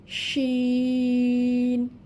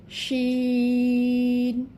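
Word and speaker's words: شين: এর পরবর্তী হরফ হচ্ছে, প্রথমে নাম জানব শিন, ইংলিশ লেটার এস এইচ শিন।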